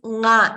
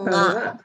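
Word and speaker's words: ङ: So what you know how to pronounce nga, right? Ka, kha, ga, gha, nga. From the throat. So nga should come from the throat.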